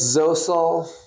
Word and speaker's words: Zosel: It's Zosel. Kind of rhymes with Cosell.